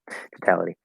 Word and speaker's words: totality: to really totality um the middle p there is a strong t because it's the start of a stress syllable the last t is actually a flat d because it's weak and it's between two vowel sounds um but the first t is just a regular first week t um it's not